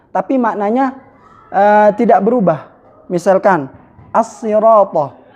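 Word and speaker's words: الصراط: Misalkan as-sirata. As-sirata dibaca dengan sad. Ada pula yang membacanya dengan sin, as-sirata, seperti itu.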